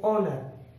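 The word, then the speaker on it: honour: है, हम इसे पढ़ेंगे ऑनर। आवर, आवर मीन्स घंटा, ऑनर सम्मान, ऑनेस्ट ईमानदार। अब हमने ये जान लिया कि कहीं कहीं पर एच के बाद अगर ओ आता है तो एच साइलेंट होता है, कहीं कहीं पर, हर जगह नहीं।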